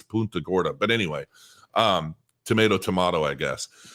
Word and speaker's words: Punta Gorda: want to pronounce it my wife and I think it sounds silly when people say punt the Gorda because I don't think that's really I think I think it's my wife says it's a Latin name and it's not pronounced Punta it's Punta Gorda but anyway um tomato